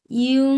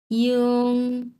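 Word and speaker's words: 英: ইং ইউ সু, ইং ইউ সু এর মানে হচ্ছে, এটা আমি একটু লিখছি। ইয়ং, এটার উচ্চারণ কিন্তু ইং হবে না, এটার উচ্চারণ হচ্ছে ইয়ং, এরকম ইয়ং।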